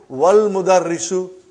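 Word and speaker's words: والمدرس: Then we will say, wal mudarrisu. Wal mudarrisu, you did not pronounce Hamza. Okay? Because it's Hamzatul Wassal.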